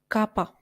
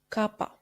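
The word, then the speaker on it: κάππα: of the country Italia Kappa Kappa which we pronounced as KO like in the word Kota Lambda Lambda which we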